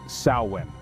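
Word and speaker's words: Samhain: Kelts celebrated samhan or I'll do my best to properly pronounce it saan this marked the end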